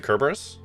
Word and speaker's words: Kerberos: Time to Hard K? Is it Kerberos? Okay. I've always known it with the soft C.